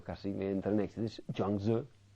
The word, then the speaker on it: Zhuangzi: Otro enormemente importante, o dos, que cada vez que los leo casi me entran en éxtasis, Zhuangzi y Lao Tzu. Ustedes aquí pronuncian Chuang Tzu.